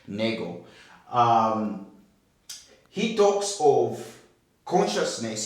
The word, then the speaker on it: Nagel: Uh, in other words, there is a paper that I think was published by Nagel, or others can say Nagel, but I think the right pronunciation of that particular name is Nagel.